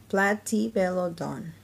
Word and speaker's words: Platybelodon: You say it like this, Platybelodon.